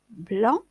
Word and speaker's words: blanc: se prononcent pas estomacs blot se termine par un c'est qu'on ne prononce pas blanc beau parent c'est cette